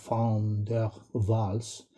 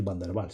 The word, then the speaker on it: Van der Waals: Bueno, yo trato de pronunciarlo esto bien estilo holandés, Van der Waals, pero bueno, en clase oiréis decir Van der Waals, sin más, que se suelen resumir así.